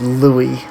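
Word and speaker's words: Laligh: was looking for that louis l-a-l-i-g-h is pronounced louie apparently i mean it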